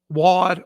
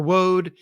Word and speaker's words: Waud: He is Alfred Rudolph Waud or Woad, spelled W-A-U-D. I've heard it pronounced both ways.